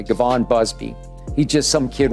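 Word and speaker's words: Givon: public with his name, Gavon Busby. It's G-I-V-O-N, I hope I'm pronouncing it the right way. Gavon Busby.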